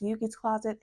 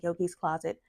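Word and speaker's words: Yoogi's Closet: I think that's how it's pronounced, Yugi's Closet and not Yogi's Closet.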